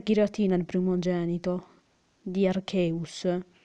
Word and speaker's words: Arceus: Se Redipixel avesse visto Arceus e gioiello della vita, il film, capirebbe come si pronuncia il nome Arceus, non Arceus, Arcius, Archias, Arci, si dice solo Arceus.